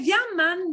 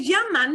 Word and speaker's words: llaman: Se llaman Nancy y Sally. Se llaman, and it's got a N sound at the end. Se llaman Nancy y Sally.